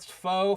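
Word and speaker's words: faux: um it's PR ounc foe foe is a French word it's got a x but you don't even pronounce X how' you like that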